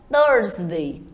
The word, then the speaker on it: Thursday: Já a quinta-feira é a hora de você enrolar um pouquinho essa língua e falar o Thursday.